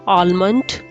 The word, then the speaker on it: almond: source of vitamin a so it's almond almond not almond or almond l is silent almond next linking word is vitamin